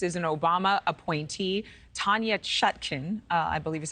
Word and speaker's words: Chutkan: But the judge in this case is an Obama appointee, Tanya Chutkan, I believe is how you pronounce her name.